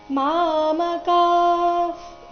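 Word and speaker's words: ಮಾಮಕಾಃ: ಅಥವಾ ಯುಯುತ್ಸವಹ ಮಾಮಕ ಪಾಂಡವಶ್ಚೈವ ಮಾಮಕಾಫ್ ಇಲ್ಲಿ ಕದ ನಂತರ ಇರೋ ವಿಸರ್ಗದ ಉಚ್ಚಾರಣೆ ಅರ್ಧ ಫ ರೀತಿ ಬರಬೇಕು ಮಾಮಕಾಫ್ ಪಾಂಡವಾಶ್ಚೈವ ವ ದೀರ್ಘ ಬಂದು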